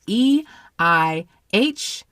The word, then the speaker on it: Eihwaz: Ihwaz is this one, is how I think that is pronounced. It's EIHWAZ as in zebra.